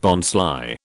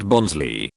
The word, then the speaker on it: Bonsly: And its pre-evolution Bonsly, pronounced Bonsly, not Bonsley, is named as such, because it is based on a bonsai tree, but it isn't one, so it's being sly.